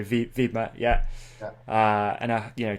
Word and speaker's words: Wibmer: Yeah, because there's no W, right? So Wibmer, yeah.